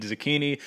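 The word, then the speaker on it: Zecchini: impressive against Manolo zucchini we confirmed the pronunciation is indeed zucchini um but cherriere man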